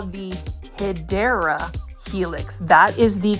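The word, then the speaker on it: Hedera helix: stunning HRA helix or what you call the hyera Helix that is the correct way to say it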